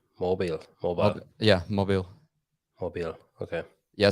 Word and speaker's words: Mobile: Mobile.